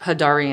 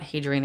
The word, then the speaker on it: Hadarian: energy codependency and boundaries oh sorry that's pronounced hidari and energy not Hadrian energy it's thinking of Hadrian's Wall in Scotland but a Darian ha Darian okay two things going on